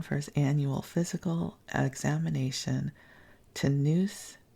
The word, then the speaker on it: Tonoose: In town for his annual physical examination, Tanus, it's spelled Tonoose, demonstrates to Charlie, Bunny, and the kids that he is still strong as a bull.